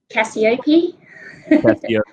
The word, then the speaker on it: Cacioppe: your surname right uh caciope right it is i'm i'm actually from australia so i kind of pronounce it with the australian accent but it's very close so no problem how